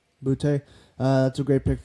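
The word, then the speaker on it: Boutte: how you pronounce Boute.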